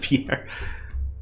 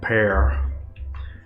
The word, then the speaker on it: Pierre: yeah that's the whole state that's not just Peter yeah they're on the same side it's pronounced Pierre oh my bad pear uh anyway let's see how oh you know